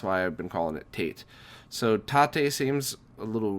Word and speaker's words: tate: you know the long way I called it Tate um and apparently that was very wrong what a shock I mispronounced something um uh and according to the